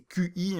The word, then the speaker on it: Qi: Donc ça c'est QI, on le prononce Qi.